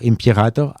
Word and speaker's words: imperator: russe le titre d'empereur, imperator, à la romaine. Ouais. Là, je le prononce à la russe, mais c'est un titre romain.